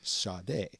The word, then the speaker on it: Sade: And in the case of like a Sade, on her first album, they had like a pronouncer right on the spine of the CD, like Sade.